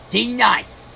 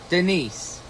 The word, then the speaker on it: Denise: D Nice, who is of course Denise.